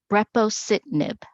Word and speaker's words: Brepocitinib: Could you again pronounce the name of the drug for us? Brepocitinib.